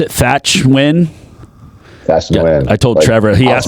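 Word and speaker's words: Thach Nguyen: Kiyosaki and Ken McElroy and how do you pronounce it? Thatch Nguyen? Thatch Nguyen.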